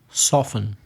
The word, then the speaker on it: soften: So the first group we have are words with a silent T or T sound. For example, escuchar. Listen. Listen. What about ablandarse, suavizarse? Soften.